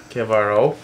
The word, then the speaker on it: Chiavaro: Yes, Kavaro. He had a he wrote it out phonetically for me.